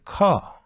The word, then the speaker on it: car: In British English, we do not pronounce R here. We say car.